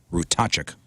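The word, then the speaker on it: Ratajczyk: a t a j c z y k rachuk nice a cool name oh yeah you impressed I am somebody wrote it out phonetically for me by the way thank you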